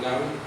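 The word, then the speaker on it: נביא: El profeta en hebreo se dice, o se pronuncia, o se escribe nabi, como dice ahí nabi, profeta, conado del verbo acadio nabú, llamar, y del árabe nabá, anunciar.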